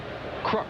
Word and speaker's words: Kruk: Or as they call him here in Cincinnati, Crook. That is the way John's family does pronounce his name, is Crook, and John Browdy, the PA announcer here, calls him Crook.